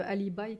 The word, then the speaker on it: alibi: Il y a le alibi qui donne carrément sa voix... Tu l'appelles toi alibi, tu prononces à l'anglaise.